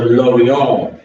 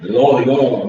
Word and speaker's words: Lorient: And next, transfer challenger looks like he's going to Lorient. Lorient, not Lorient. Lorient. That's how you spell it in French.